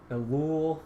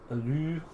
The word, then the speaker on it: Ellul: Looks like in English, Ellul will work. In French, Ellul, something like that.